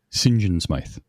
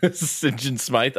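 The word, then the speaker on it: St. John Smythe: Sing Smith. Sing Smith. Uh, the way the way they would pronounce that killed me every single time. Singen Smite.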